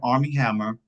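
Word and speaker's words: Armie Hammer: But we have Army Hammer. Am I pronouncing that name right?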